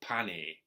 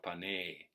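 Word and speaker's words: Pāṇini: you know bunny so I would call him now pani if I don't concentrate because that's that's the English now pan knee but least meow Pinay in Sanskrit the a is long so the best way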